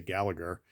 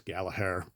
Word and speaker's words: Gallagher: uh G Asylum thing so we always say Gallagher but it is Gallaher that is how you pronounce his name all right sorts of Rory